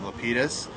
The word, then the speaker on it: Lapidus: Lapidus.